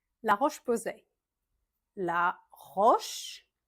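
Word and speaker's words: La Roche-Posay: Bonjour bonbon on je recommence en on Clarence Clarence on prononce le S. Clarence la roche posé. La roche roche posait.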